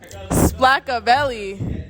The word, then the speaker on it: Splackavelli: Splackavelli. Spell it exactly how you say it. Splackavelli. Splack. Not splat.